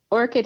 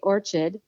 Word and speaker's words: Orchid: come to realize that Orchid is a really hard word for a lot of people when they see it they want to say Orchard and they don't know